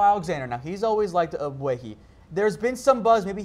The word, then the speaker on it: Ogbuehi: Yeah, it's a weird name because it's a G, but it's silent. The Cowboys brought over Paul Alexander. Now, he's always liked Ogbuehi.